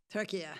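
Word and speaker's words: Türkiye: It's um well the pronunciation now is Turkey. Turkey. Yeah, they've changed. That's that's how they say they and that's how they want us to say it.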